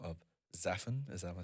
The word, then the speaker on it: Xaphan: a new techno project by the name of Xaphan. Am I saying that right? Yeah, Xaphan. Xaphan.